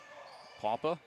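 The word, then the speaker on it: Pawpa: Papa. And that's spelled P-A-W-P-A for those of you keeping track at home.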